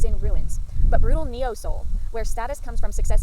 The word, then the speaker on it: Seoul: this list is Rebel Soul by axio and soul is spelled like the the place so s e o u l Soul this is a book